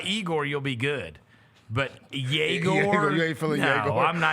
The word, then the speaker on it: Yegor: Obviously, I was completely out on Yegor Denman as soon as I got the pronunciation guide and realized he is not Igor. It's Yegor. He's Yegor.